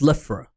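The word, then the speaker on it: Slithraa: Okay, so it's pronounced Slifra.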